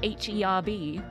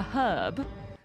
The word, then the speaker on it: herb: H it is a herb but in America it is an herb the H is silent but uh but no